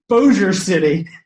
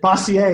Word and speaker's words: Bossier City: the is the bossy a city boss it's Bossier City but he pronounced it bossy a he's like he's like he's like I didn't